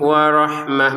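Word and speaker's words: ورحمة: Warahmah ada tulisan ta di sini tapi kita bacanya ha karena berhenti. Warahmah gitu. Kalau digabung dengan yang setelahnya maka menjadi ta lagi.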